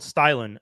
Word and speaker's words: Stylin: were saying it right the company is called stylin s-t-y-l-i-n but starlin one thing i want to